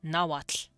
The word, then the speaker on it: Nahuatl: And nahuatl, the S, yeah, it's, like, oxalotl is technically, axolotl. And it's not tl, it's nahuatl. The TL is, it's like a the Welsh sound, sla, so it's tla.